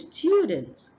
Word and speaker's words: students: Next one is students. Students. We have a hidden yes sound after the T.